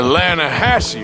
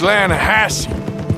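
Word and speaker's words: Lannahechee: some beautiful steelhead trout you mean the lanahashi river no no no no no the the lana hatchy it runs right near here yeah but it's pronounced landhassy why is everything in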